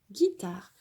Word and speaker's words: guitare: On ne lit pas le U, on dit G, guitare.